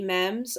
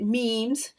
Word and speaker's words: meme: way I'm sure that there will be mems or as the Americans say it memes soon but um I